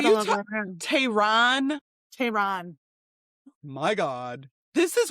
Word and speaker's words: Tehran: Tehran. Yeah, not Taryn. It's not the girl down the street's name.